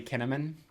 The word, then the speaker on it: Kinnamon: her um me Melanie kinnamon melan just I love that it rhymes with cinnamon me to Cinnamon she